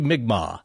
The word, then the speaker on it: Mi'kmaq: to do of the Mi'kmaq people, we had a great listener, Mr. Jordan Bones, write in saying like, well, you guys are close, but it's actually Mi'kmaq.